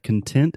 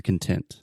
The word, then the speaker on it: content: So here, Alexia, we have content as an adjective, which means happy, satisfied, you're content. Content. Yeah. We also have content. We spell this the exact same way, but it's pronounced differently.